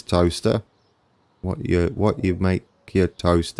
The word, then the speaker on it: Towcester: It's not Towcester or Towcester. It is Toaster.